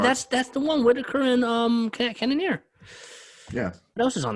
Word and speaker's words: Cannonier: What's his name? Cannonier. I can't pronounce Cannonier. that. Cannonier. You said Cormier.